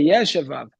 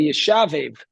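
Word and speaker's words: Yeshevav: it said Yashuvav, Rabbi Yashuvav. So uh sometimes in the machzor, you'll see Rabbi Yashveiv. So no, we see exactly from here, Rashi tells us how to pronounce the name, Yashuvav.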